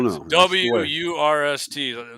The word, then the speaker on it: Wurst: W-U-R-S-T. Wurst is how they say it in German.